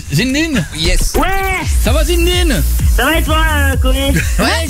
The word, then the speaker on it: Zinedine: a qui disent zindin il y en a qui prononce pas le il y a zinedin et zinin toi c'est zinedin ah oui souvz comme le le le jouur de tennis c'est ça mais non mais moi j'ai copain par exemple qui s'appelle zin pronce ça se prononce zindin il veut qu'on prononce zin c'est les deux quoi et qu'on prononce pas le E c'est un e jamais bon en tout cas zinedin tirer